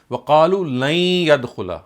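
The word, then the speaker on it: وقالوا لن يدخل: So waqalu lan yadkhula, when you join the word lan with yadkhula, you'll not pronounce it separately, but it will get amalgamated. So the pronunciation would be waqalu lan yadkhula.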